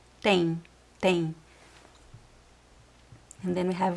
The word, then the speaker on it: tem: Tem. Again, attention to the pronunciation. It's not tem, it's tem. Tem. Tem. See that I don't touch my lips. Tem. Tem. There's no N sound as well, but if it is